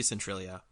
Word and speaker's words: Centralia: here about centralia pennsylvania can you try and pronounce that again central is c-e-n-t-r-a-l-i-a central okay i said right okay centralia pennsylvania